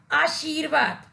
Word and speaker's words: आशीर्वाद: जो इस शब्द का उच्चारण होगा वह शुद्ध उच्चारण है और वह अब होगा आशीर्वाद ऊर्जा आ कि बच्चों यहां इस शब्द में